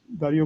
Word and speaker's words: Dario: it's all right i i just pronounce it the english way normally um so uh so right my name is dario uh d-a-r-i-o uh